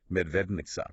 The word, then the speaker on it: Medvednica: So, it's Medvednica, pronounced med-v-e-d-n-i-c-a.